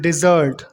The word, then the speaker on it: desert: Fourth pair word है डेजर्ट एंड डिजर्ट।